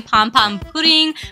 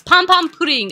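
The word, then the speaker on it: Pompompurin: me because I say pom pom pudding but if you know the Japanese pronunciation I'm not wrong okay that's how they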